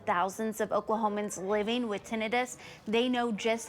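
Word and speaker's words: tinnitus: loss and ttis which I just learned is pronounced tinitus that's the ringing noise in your ears that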